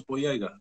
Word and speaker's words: Boyega: I know I'm pronouncing his name fucked up. No, you said it pretty close, Boyega.